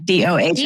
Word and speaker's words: Dohm: And it's spelled DOHM, by the way. Yep. DOHM. Oh, yeah. Like, like ohm and do combined.